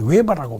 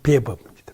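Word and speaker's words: Weber: 원래 웨버, 우리가 이제 우리나라에서 웨버라고 많이 이야기를 하는데, 발음을. 독일식으로 발음은 베버입니다.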